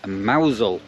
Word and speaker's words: Mousehole: another place um that spelled mouse hole but you actually pronounce it mousel um so it's a